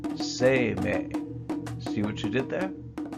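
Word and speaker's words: 晴明: But if you give them their classical, Chinese-influenced reading, they would be pronounced Sei-mei.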